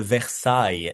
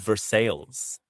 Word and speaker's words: Versailles: Well, I mean, for some words in the in the I mean, there's a versai in Kentucky. Versailles as in Paris, Versailles, but they call it Versailles.